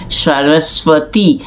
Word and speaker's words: সরস্বতী: তাহলে সরস্বতী ইংরেজিতে বলা হয় সরস্বতী। স্বাতি যেটা যখন বলা হচ্ছে তখন এই বটা বাংলায় সাইলেন্ট ব, এটা উচ্চারিত হয় না।